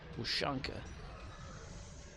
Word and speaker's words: Ushanka: Well, Ushanka is a Russian word, so I know they would probably like pronounce it wrong. Ushanka. It's because it follows that says, oo sound.